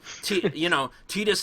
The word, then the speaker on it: Tidus: And then Tidus and Yuna, like, oh, I decided to pick Riku instead. What? Like that's not. It's Tidus and Yuna. Like that's it. And some people pronounce it Titus, but if you actually play